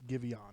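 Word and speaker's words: Giveon: john it's i believe it's pronounced gibeon it is indeed and man let me tell you i funny enough i didn't know it was a tick-tock song i discovered givion through tick-tock that's what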